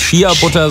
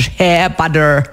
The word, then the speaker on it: Shea-Butter: Nicht Chia-Butter, sondern Share-Butter. Share-Butter.